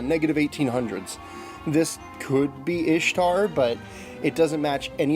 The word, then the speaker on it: Ishtar: impressive at any rate Ishtar is Ishtar pronounced Ishtar there's not any evidence it was ever pronounced Easter the closest we can get on an anthropological scale is maybe east har but that's the best you can get generally speaking I expect